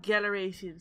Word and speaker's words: Galeration: Yes, that's how you say it, Galeration.